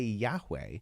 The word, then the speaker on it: Yahweh: Scribes, in order to remember not to say Yahweh, but Adonai, would point the vowels Adonai into the consonants of Yahweh.